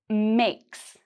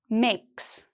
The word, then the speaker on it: makes: So, listen carefully: "makes", "makes". It's actually pronounced like an "s"; it's not a "z" sound.